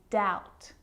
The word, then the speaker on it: doubt: examples subtle depth and doubt so seeing all of those examples my lips aren't closing and coming together to form the B sound I'm just pronouncing the T subtle depth and doubt now the letter C